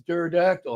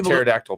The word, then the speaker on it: pterodactyl: you can't hear the pterodactyl P why because there's no go to the bathroom because the p is silent the p is silent